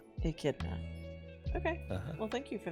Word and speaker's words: Echidna: And how do you pronounce it again? Echidna. Echidna.